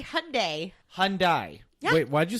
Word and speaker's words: Hyundai: a ad campaign where they said it's Hyundai Like Sunday.